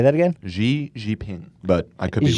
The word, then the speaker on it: Xi Jinping: Oh, hi, Xi Jinping.